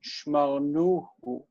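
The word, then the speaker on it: שמרנוהו: him, it would be shmarnuhu. Shmarnuhu. Because the first vowel would reduce. This would become a closed syllable for marnu. The accent is here, and then we have hu on the end.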